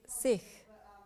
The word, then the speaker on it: Sikh: point one sik which is pronounced sik in Punjabi is a word which means a